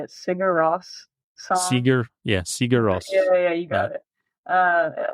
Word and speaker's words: Sigur Rós: Sigur Rós.